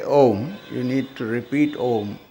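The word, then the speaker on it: ॐ: Now, you all know Om, right? Om. So you also know that Om is made up of 3 syllables. What are the 3 syllables? Umma, what? A, U and Ma.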